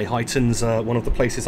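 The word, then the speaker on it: Huyton: a spell h-u-y-t-o-n um i read it more as hoyten but i thought it might catch me out and when i googled it and looked it up apparently it's pronounced heightened so hopefully google was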